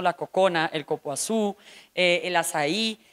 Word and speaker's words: Açai: Se pronuncia Azaí, pero es con C.